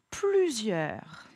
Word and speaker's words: plusieurs: Attention, le S qui se prononce Z, puisqu'il est entre 2 voyelles. Et yeur, E, U, R. Et oui, tu as raison. Dans plusieurs, il y a la lettre S muette à la fin du mot.